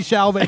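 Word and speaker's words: Timothée Chalamet: Don't kill Timothy Chalamet, but you get to live.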